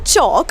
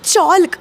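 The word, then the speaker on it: chalk: L silent होऊन जातो आता चॉक म्हणजे खडू जो आपण शाळेत वापरतो तो चॉक त्याला पण चॉल्क असं नाही म्हणत हाफ म्हणजे अर्ध तिकडे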